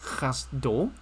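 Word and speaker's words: חַסְדּוֹ: over here is not exactly pronounced cassette it's pronounced cast dough why is that pronounced cast dough okay this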